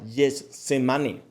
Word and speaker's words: Getsemaní: Esta palabra viene del arameo Gethsemane, se pronuncia Getsemane, que significa prensa de aceite.